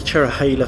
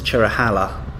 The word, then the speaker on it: Cherohala: the chera hailer Skyway many people mispronounce this road is the chera holla but it's actually the chair oh hey let's go away or more affectionately known by some as a cherry cola highway cue Neil Diamond